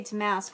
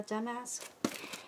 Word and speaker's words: damask: I always say damask, but I think the accent is on the duh. Duh, damask.